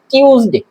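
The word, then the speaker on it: Tuesday: সোমবার মানডে মঙ্গলবার আমরা এটাকে অনেক উচ্চারণ করি টুয়েসডে মঙ্গলবার টুয়েসডে কিন্তু এটা সঠিক উচ্চারণ হচ্ছে টিউসডে টুয়েসডে না টিউসডে তারপরে বুধবার এটাকে অনেকে উচ্চারণ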